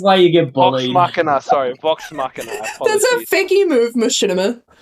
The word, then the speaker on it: Machina: Machina, sorry. Vox Machina. That's Apologies. a fakey move, Machinima. Yeah, no, that was my Oh, bad. The thing is, I was God. pronouncing it Machinima the whole time until I think Raven corrected